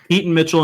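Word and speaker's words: Keaton Mitchell: correct is that how you say it yes Keat and Mitchell and Justice Hill both around 390 yards um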